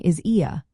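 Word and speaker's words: Is ea: A shorter way to affirm this is by saying "Is ia," pronounced like sha, which translates to "it is" or "that is."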